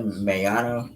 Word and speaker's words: Miyonna: A man has officially been charged with murdering his 16-year-old sister, Mayana Jones. That's spelled Miyonna.